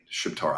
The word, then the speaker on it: Shqiptar: Shiptar. I don't know why it's Albanian, but they call it Shiptar.